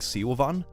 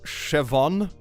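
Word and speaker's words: Siobhan: pronounce an Irish name it's pronounced Chevon oh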